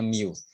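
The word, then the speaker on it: μ: juga yang simbolnya Miu yang seperti huruf u ini bacanya Miu Apa bedanya kalau eksbar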